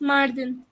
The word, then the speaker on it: Mardin: Now, at one time you told me you were going to, and I have to remember how to say it, Mardin or Marcin? Yes, Mardin.